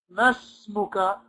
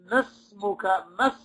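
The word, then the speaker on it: ما اسمك: We said, masmuka. We knocked out this alif. We knocked out this alif. We went straight from the fatha of the meme to the seen. Remember? We said, masmuka.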